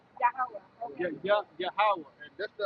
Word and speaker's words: Yahweh: Yahawah. Not Yahweh. Yahawah.